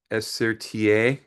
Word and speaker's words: Esertier: My name is Esertier. Uh you can just remember four letters, SRTA. it kind of helps you to pronounce it or you can say the anglicized version of my name.